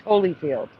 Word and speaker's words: Holyfield: Again, it was never pronounced Holly. It was always Holyfield. That's weird. I mean, why would they pronounce it Holyfield if it's spelled Holly?